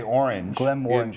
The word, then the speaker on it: Glenmorangie: the orkneys and uh when you pronounce glenmorangie they want you to say orangey that's right orangey and because there is a little citrus in there yes and that's the thing